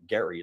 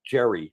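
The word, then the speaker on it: Gerry: I kept pronouncing it Gary like you were and he said c it's Jerry like with a J yeah Tom and Jerry the Jerry there you go and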